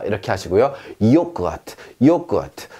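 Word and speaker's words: Joghurt: 요크아트, 요크아트. 자, 여기서도 모음 뒤에 묵음해서 트 소리가 납니다. 요크아트 이렇게요. 만약에 소리가 났다면 요크트 이렇게 했겠지. 그런데 그렇게 안 한다고요. 왜?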